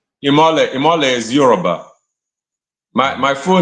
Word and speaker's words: Imole: So now coming up, Imole, that's how you pronounce it, right?